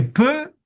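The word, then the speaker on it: བོད: Mais le ta ne se prononce pas. Et donc ici on a un mot qui pour nous est quand même important qui est peu qui veut dire le Tibet.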